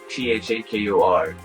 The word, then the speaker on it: Thakur: Thakur. So it's like saying Tupac Shakur, but with T. T-A-H-A-K-U. Thakur.